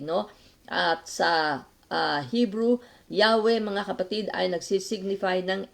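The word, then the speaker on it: Yahweh: Y hhw ay pino-pronounce nila mga kapatid as Yahwe. At ang pronunciation pala doon ay Yahwe.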